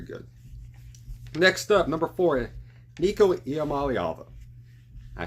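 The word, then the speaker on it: Iamaleava: he's very very good next up number four nikamal ala I said his name right I know it's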